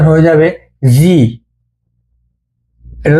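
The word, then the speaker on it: づ: এটা পড়েছিলাম আমরা চু। এখন 2টি টেন টেন দেওয়ায় এর উচ্চারণ হবে জু। এটার উচ্চারণ দু হবে না, এটার উচ্চারণ দি হবে না।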